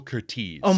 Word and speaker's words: Curtiz: No, it's Michael Oh, Curtiz. Michael Kurt. I was looking at something else. My I bad. thought it was Curtis my whole life, but it's Michael Curtiz, who also, Curtiz?